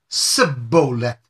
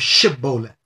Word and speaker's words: Shibboleth: the man answered he would say Cibola instead of Shibboleth because he could not properly pronounce it then the gileadites tiptoes